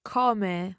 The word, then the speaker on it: come: You can pronounce it in both ways, come or come, and it varies depending where you are in Italy.